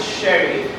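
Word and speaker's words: Chery: They call it sherry because yes, they pronounce that cherry but that's called cherry.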